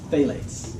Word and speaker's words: phthalates: Just don't say it properly. There's no pH, just phthalates.